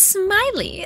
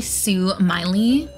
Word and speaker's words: Sue Miley: saying my name is Smiley the Laughing doll I'm the doll who will guide you on this floor um it's actually Sue Miley but she still has